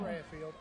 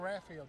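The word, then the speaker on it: Raffield: Daniel Radfield, just like it's spelled.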